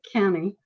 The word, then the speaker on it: Keaney: keenan and mary kenny or perhaps keaney in cleveland we pronounced it kenny they were both born